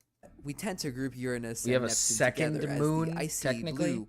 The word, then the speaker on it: Uranus: As you can see, Neptune is nearly double the distance that Uranus is from Saturn. Despite that, you didn't say it right. Come on. Call it by its right rightful name, Uranus.